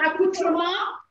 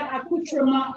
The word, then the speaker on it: accoutrement: So before we do the fish, let's finish the beef bourguignonne accoutrement. So for people who don't know what accoutrement is, it's accoutrement.